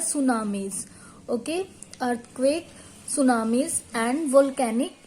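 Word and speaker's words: tsunami: देखिए इसमें ये वर्ड जो है स्टार्ट तो टी से होगा, बट हम इसका प्रोनाउंसिएट टी सुनामी नहीं करेंगे. इसकी प्रोनाउंसिएशन क्या है? सुनामीज.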